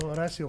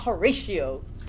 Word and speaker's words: Horacio: probably better than how horacio feels right now but yes poor horacio we feel bad for him by the way that's how you say his name it's horace horacio not horatio whatever it's like how